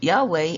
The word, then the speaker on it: Yahweh: literally means devoted to yahovah AKA Yahweh pronoun pronounced Yahweh the Tet tetr Graton so even Julia and